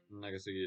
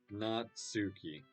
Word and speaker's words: Natsuki: I don't really care how old everyone is, but if Nagasaki is feeling proud, then I won't take it away from her. Natsuki.